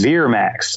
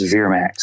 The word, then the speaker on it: Vermax: name pronunciations were interesting he says Veer Max like v-e-r let's go to your